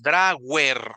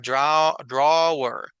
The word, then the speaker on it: drawer: w es suave verdad no es drer verdad no suena igual a w en inglés que que en español verdad nosotros a veces la la pronunciamos como Wi Wi verdad y en inglés es como si fuera una u un poco suave drawer eso es la